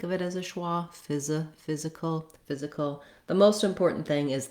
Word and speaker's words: physical: Then I pretty much don't say a vowel here at all in the last syllable. I go right from the K, the K sound to the ul sound, that dark L. That's called a syllabic L.